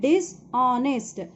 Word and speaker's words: dishonest: Clever and dishonest. This is, you have to pronounce this as, here H is silent, so you have to pronounce this as honest. O. Dishonest.